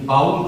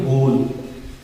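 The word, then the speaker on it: bowl: ये बाउल नहीं पढ़ा जाएगा, ये बाउल गलत है। इस बाउल को नहीं पढ़ेंगे, इसे हम लोग पढ़ेंगे बोल।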